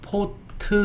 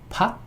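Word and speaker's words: pot: 그래서 요거를 어떻게 발음했냐면 또 포도 아니고 포트 이렇게 발음했어요.요 뒤로 빼서 포트. 그래서 우리가요 포트라는 단어를 쓰기 시작했고 커피 물끓이는 냄비를 커피 포트라고 했습니다. 커피 포트. 그러니까 어 팟 아 냄비 이제 이해가 좀 되시죠?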